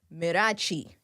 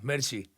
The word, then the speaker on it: Mirchi: Now, listening to your music, Mirachi. Did I Yeah, say yeah. it right? Yeah, Mirchi.